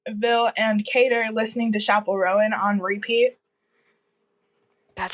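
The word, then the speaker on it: Chappell Roan: so Lilia Leona Ville and ker listening to Chapel Rowan on repeat that's how you say her name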